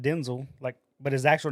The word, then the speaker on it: Denzel: I also pronounce it Denzel, not Denzel.